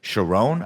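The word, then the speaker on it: Charon: how Lance Reddick's character's name is pronounced because Winston says it's Sharon, I believe is how they pronounce it.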